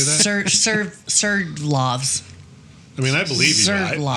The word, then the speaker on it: Sverdlovsk: Sverdlovsk.